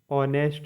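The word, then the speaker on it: honest: are honour मतलब सम्मान एच ओ एन ई एस टी ऑनेस्ट मतलब ईमानदार यहां एच आपका साइलेंट है नंबर सेवन है के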